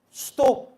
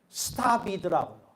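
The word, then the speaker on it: stop: 저는 영어 발음을 수독 그러고 배웠는데 미국 갔더니 스탑이더라고요. 오 발음이 아니라 아 발음이더라고요.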